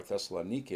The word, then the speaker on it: Thessalonica: then he goes to thessala thessalonica or thessalonica as they pronounce it and of course